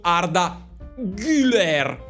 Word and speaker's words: Arda Güler: Allora, notizia su Arda Güler, ok? Avete notato come lo pronuncio giusto? Arda Güler, perché qualcuno ieri mi ha detto: no, non si chiama Arda Güler, si chiama la U con la dieresi.